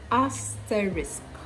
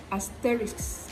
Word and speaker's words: asterisk: need to do is look at the sounds singly and then pronounce them distinctly us terrorist you see